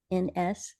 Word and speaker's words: SANS: with the SANS Institute, SANS. That's how I say it. Other people probably have different pronunciations.